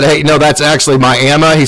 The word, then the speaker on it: Miami: so when they said hey no that's actually my Emma he said well you can call it whatever